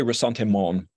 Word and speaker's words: ressentiment: if I mispronounce it resentment is that the right way of pronouncing that word I think they say rasante mon uh oh well what